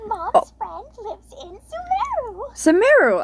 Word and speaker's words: Sumeru: From, I believe she's in Samaro, maybe? The letter says that Mom's friend lives in Sumeru. Sumeru! I got it right, even though I pronounced Sumeru wrong.